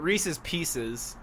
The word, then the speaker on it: Reese's Pieces: And it also rhymes with feces too. Right, it does. But Reese's Pieces. That follows. That's the right way of saying it.